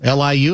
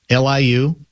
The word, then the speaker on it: Liu: Liu, am I pronouncing that right? Liu.